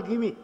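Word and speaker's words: Gimi: बहुत बार कहते थे मेरी स्पेलिंग जो है उसके कारण लोगों को गलतफहमी होती है मेरा नाम है जी आई एम आई और वह लोग जो है उसको पढ़ते हैं और व कहते जाल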